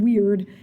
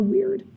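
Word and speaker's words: wyrd: So another motif that we have is something called weird, and it looks weird, and it's spelled weird, and it sounds like the word weird, W-Y-R-D.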